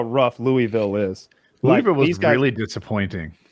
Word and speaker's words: Louisville: That's how rough Louisville is. Louisville was really disappointing. If you know, you gotta say it right. You gotta say Louisville.